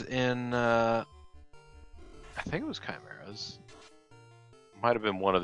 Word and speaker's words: chimera: absorb one instead of like 34 it's actually pronounced chimera come on all right we might actually net